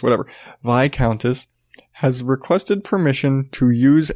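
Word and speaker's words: viscountess: heard it vai countess there's an S I've heard you don't pronounce yes whatever vie countess has requested permission to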